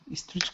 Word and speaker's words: street: cars are for tourists street cars are for tourists okay good now uh when we say Street make sure you're not saying E Street so take off the E it's street street cars street cars street